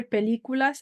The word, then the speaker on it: películas: Ver películas, accent on the I, because remember accents, the way they work, it's not, it should be on this U, but it's not, it's on this I.